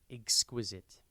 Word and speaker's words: exquisite: one word at a time today's word is exquisite it is pronounced IG squit and spelled e EX q